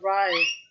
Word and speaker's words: Ra: of the sun god Ray see I always thought Ray was RA but here they pronounced it r ray or R it's confusing isn't it I guess it's interchangeable depending on what dialect anyway in the form